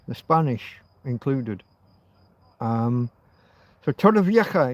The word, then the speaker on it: Torrevieja: It's not really a cur, but I can't really do that like the Scots do with the loch.